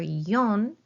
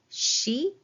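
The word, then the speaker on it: 四: Okay, and then again, 1, 2, 3, number 4 has either yon or shi.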